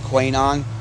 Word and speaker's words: QAnon: They say QAnon. I consider it Quanon because the A is silent. Which A? The second A.